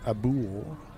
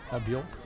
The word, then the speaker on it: Abial: Abul, I believe. Is that how you pronounce it? Abial. Abul, I thought. But Abial.